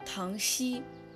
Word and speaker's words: 塘栖: 顺路解释一下，到底是塘溪还是塘七根据地名志记载应该是塘溪。我也比较赞同这种读音，因为栖是形容鸟停留在树上，比如说栖身之所、栖息之地这样的。